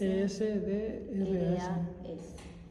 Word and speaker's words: Esdras: E-S-D-R-A-S. Tal como suena, Esdras.